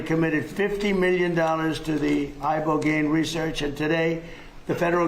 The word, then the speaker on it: Ibogaine: injuries underwent, it's called ibogaine treatment. Ibogaine. Remember the name. Is that pronounced relatively properly, would you say? Yes. I don't want to get it wrong.